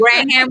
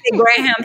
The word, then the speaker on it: Graham: used to call it graham but you're not supposed to pronounce the h and graham graham anyway and on graham